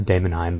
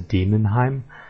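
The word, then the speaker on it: Daemonheim: word is damim I I always pronounce the damim but the actual pronunciation is demon so that's pretty pretty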